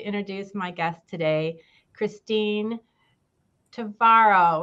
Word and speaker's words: Tvaroha: And without further ado, I would like to introduce my guest today, Christine Tvaroha, which rhymes with tomorrow, who is our Director of Senior Services here in Bloomfield Township.